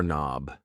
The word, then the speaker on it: knob: A door knob. Yes. The K in knob is silent.